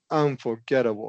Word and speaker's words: unforgettable: but it says second always secondary stress on will always get secondary stress in whatever word it it's getting some kind of stress but it'll never get primary.